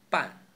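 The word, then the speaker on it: 半: An, the sound doesn't exist in English, but it's pretty close to the an in ban. We only need to open our mouths wider.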